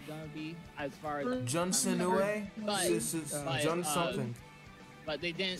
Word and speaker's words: Jun Senoue: Didn't you hear that Jun Senoue? The person that worked on Sonic 3 is going to be on the team. Yeah, Jun Senoue. Yeah, Jun Senoue. Jun Senoue.